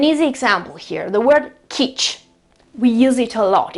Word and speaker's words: kitsch: And in this case, in order to pronounce the ch, we use 4 letters, okay, T-S, C, and H. It's a very typical sound and it's a very typical spelling in German.